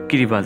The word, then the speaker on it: Kiribati: নাম ছিল গিলবার্ট দ্বীপপুঞ্জ গিরিবাতি নামের উৎস হচ্ছে ইংরেজি গিলবার্টস নামের স্থানীয় উচ্চারণ ফলে স্থানীয়দের অনেকেই একে কিরিবাজ বলেন এটি একটি দ্বীপ দেশ